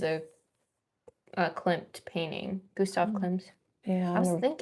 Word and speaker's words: Klimt: Gustav Klimt's.